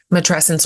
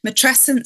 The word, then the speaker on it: matrescence: And it's a word, frankly, that I had to figure out how to pronounce. It's not in the zeitgeist yet. Matrescence, which is the name of your book.